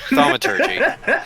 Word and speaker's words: thaumaturgy: How do you pronounce that word again? Thaumaturgy.